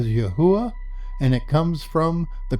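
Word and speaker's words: יהוה: capital D is used the actual Hebrew equals yod he V he we pronounce that as yahua and it comes from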